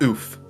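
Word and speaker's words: Ouphe: what did you say it's pronounced oof i think oh oof oh right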